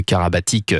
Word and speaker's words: Karabatic: à Nicolas et d'où le Karabatic qui se prononce Karabatic.